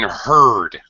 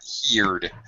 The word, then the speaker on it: heard: I have even heard. Okay, heard, not heed. The the verb is to hear. here but yesterday I hear but yesterday I heard different pronunciation of the vowel sound.